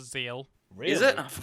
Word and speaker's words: Zexal: Zexal when they started It's spelt Zexal, but it's pronounced Zeal. Really? Is it? Oh, for fuck's I sake. always thought it was Zexal.